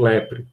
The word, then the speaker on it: leprae: Pronuncia só a última letra mesmo no latim. Então, você tem aqui Mycobacterium leprae.